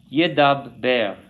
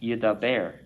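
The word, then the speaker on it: ידבר: So you would pronounce it yedab ber. Yedab ber. I'm exaggerating it. So you hear the two b. Yedab ber. Yedab ber. Yedab ber. Yedab ber. Not yedaber. Yedaber. I didn't do my race very well either. Yedaber. Would that also split the syllable into two? Splits the syllable. Yeah, so you have dab and bear.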